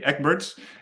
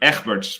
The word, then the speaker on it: Egberts: in dutch it's in in english should say ekberg's in dutch it would be echberg's but that would be difficult to pronounce birds like like